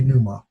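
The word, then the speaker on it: πνεῦμα: it's pronounced P or so the kanuma I keep it silent and I just say Numa but some people pronounce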